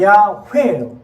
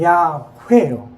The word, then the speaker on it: 야훼: 원래 히브리어 말로는 발음으로는 야훼예요.